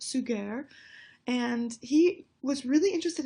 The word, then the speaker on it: Suger: the abbot Abbot suger looks like his name is sugar but it's actually pronounced suger and he was really